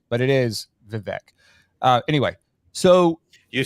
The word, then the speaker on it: Vivek: with with vivec he actually thanks Tim for pronouncing his name correctly um and he doesn't care that people call him Vivek but it is vivec uh anyway so you say tomato I say